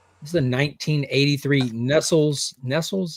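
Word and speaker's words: Nestlé: Nestles is how you say it.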